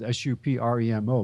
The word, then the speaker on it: Supremo: So the name is actually, it is spelled Supremo, but it's SUP capital REMO. Oh. So there's something to the Italian influence in the name. Yeah, it goes like this. Supremo.